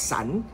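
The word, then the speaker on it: 伞: niyo ba ang ang umbrella I pronounce as sun a sun is parang sin sak parang ano bini-break up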